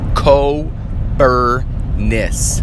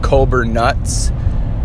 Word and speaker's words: Kobernusz: z dot com and how you say it is the u is an i without the z let's see what the